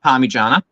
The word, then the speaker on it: Parmigiana: 1, pronounce it. It's Parmigiana, right?